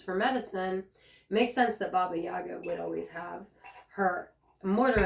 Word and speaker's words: Baba Yaga: know that you know Baba Yaga the name babiaga some people say it like it means old Crone